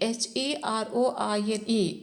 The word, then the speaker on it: heroine: Singh Pro sing and the one heroin actually h e r o i n e should be pronounced as heroine not hero heroine so the